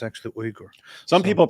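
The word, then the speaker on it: Uygur: but that's not how it is it's actually ugur some people pronounce it yogur and they call him yogurt chunky yogurt we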